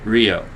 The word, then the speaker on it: Rio: That's how you say it, Rio.